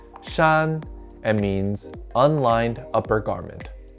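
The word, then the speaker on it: 衫: pronunciation of the whole character this character is pronounced shan and means unlined upper garment to remember this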